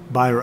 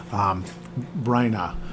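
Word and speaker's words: Byrna: and in that cave is the cane of Byron. I can never say it right. Bryna.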